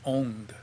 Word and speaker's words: Om: It should be pronounced Ong, O-N-G. And when you pronounce it like that, the tip of your tongue goes to the top of your mouth when you do that NG sound, that Ong.